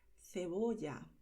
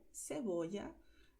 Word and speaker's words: cebolla: Y también decimos en español cebolla, ¿vale? Con esta pronunciación de España o cebolla de Latinoamérica.